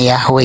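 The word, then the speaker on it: Yahweh: tapi eh yah itu EMP empat huruf huruf mati y he W He tapi bisa dibaca bacanya yahwe gitu oke itu yang dikasih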